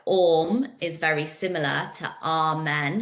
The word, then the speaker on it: Om: But actually, like when you're chanting Om is the universal sound. So it's made up of three syllables, or, and and you gently transition from each.